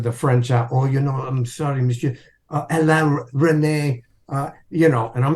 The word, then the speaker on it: Alain Resnais: So anyway, because of the X-Files, this incredible man, brilliant French director, his name it's pronounced Alain Resnais, and it's spelled Alain Resnais.